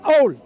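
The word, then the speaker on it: awl: He shall take him to the door of the doorpost and pierce his ear with an owl.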